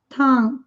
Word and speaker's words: tongue: Tongue. Atenção à pronúncia. Tongue. Nem se fala o G.